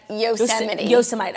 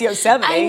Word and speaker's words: Yosemite: Yellowstone is in Montana's osa might okay by the way did you say that as a joke no but it is how it's spelled yeah but like you know I know it's Yosemite yeah I agree when